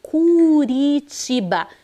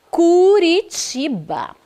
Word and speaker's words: Curitiba: Curitiba como que é aqui a leitura dessa sílaba é Branda é fraquinha C Curitiba porque está entre as vogais u e a